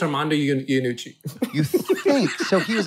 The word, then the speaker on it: Armando Iannucci: Armando Iannucci.